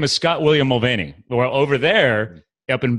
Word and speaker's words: Mulvaney: So, my name is Scott William Mulvaney. Well, over there, up in Belfast, it's pronounced Mulvaney, apparently.